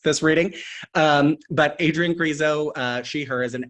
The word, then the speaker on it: Crezo: will let you know uh Carrizo that rhymes with Creepshow um and so we're bringing the spook spookiness to this this reading um but Adrian grizo uh she her is